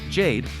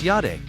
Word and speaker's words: Jade: what I suggest lastly Jade or in German should be pronounced as yade is a light aircraft